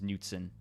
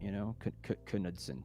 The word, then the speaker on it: Knudsen: That's how you pronounce it. But Norwegian is Knudsen. Yeah, it's a fun way to do it, Knudsen.